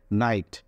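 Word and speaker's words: knight: আমরা সাইলেন্ট ই সম্পর্কে জেনেছিলাম ঠিক এরকম অসংখ্য সাইলেন্ট লেটারস আছে সেই লেটারস গুলো আমাদের জানতে হবে যেমন এখানে আছে নাইট এখানে আছে নাইট নাইটের কিন্তু এখানে সামনে কিন্তু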